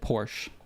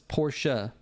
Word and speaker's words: Porsche: my own thing here I always said Porsche because that's how it's pronounced here everyone here says Porsche but then our friend Teeter got upset that I was saying Porsche and he's like no it's Porsche and then I don't